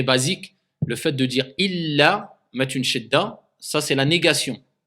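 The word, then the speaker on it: إلّا: Donc illa et ila, ça a deux choses complètement différentes. Donc quand il y a une shidda, il faut prononcer la shidda.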